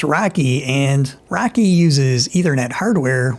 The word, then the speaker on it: RoCE: The acronym is pronounced Rocky and Rocky uses Ethernet hardware with Infiniban messaging.